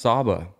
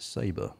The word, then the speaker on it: Saba: talking about saba and it just pronounced saba yeah i wasn't i i initially felt saba was the correct thing and then i was like is it saber no but saba seems right yeah i think that